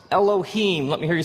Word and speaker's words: Elohim: it would look something like this and it's pronounced elohim let me hear you say elohim in the beginning elohim created the heavens and